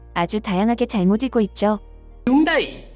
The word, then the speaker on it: Hyundai: 대표적으로 오용되는 영어 발음인 현다이, 하이엔데이, 하이윤다이 등을 예로 들어 코믹한 요소를 담아 외국인들을 웃게 하는 동시에 정확한 발음으로 바로잡을 수 있도록 했죠.